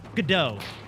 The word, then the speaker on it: Godot: Godot.